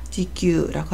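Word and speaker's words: 持久: 음독은 규 또는 구라고 읽습니다. 영구, 영혼을 나타낼 때는 A규라고 하고요. 지구, 오래 견딤을 나타낼 때는 지규라고 합니다.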